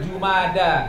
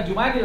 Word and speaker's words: Jumada: Nah berada di antara jumada lihat tuh bacananya bukan Jumadil kan juma jumada bacanya itu bukan Jumadil dan syyaakban ya itu